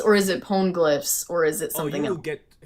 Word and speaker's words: Poneglyph: Yeah, Poneglyphs?